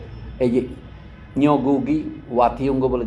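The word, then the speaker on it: Ngũgĩ: দোষনীয় হবে না এইযে নিগু ওয়াতিঙ্গ বলে যে বিখ্যাত আফ্রিকান লেখক উপন্যাসিক তিনি সম্প্রতি মারা গেছেন আপনি এনগু বলেন নগু বলি আমরা বাংলায় আমি উচ্চারণ করলে অনেকটা বাংলায় দিয়ে উচ্চারণ করতে ভাবে আর কি উনি লিখছেন একবার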